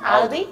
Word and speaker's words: Audi: I mean, just Audi. Audi. Just Audi. Okay, just Audi.